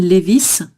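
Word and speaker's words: Levi's: Et donc le jean Levis, généralement on va prononcer le S.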